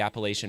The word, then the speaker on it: Appalachia: It's defined, of course, by the Appalachian Mountains.